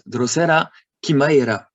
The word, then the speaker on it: Drosera chimaera: C and H, it's K, with an aspiration. It's also from ancient Greek, like in Kelonian. There's never sh or no ch. That's Drosera chimaera.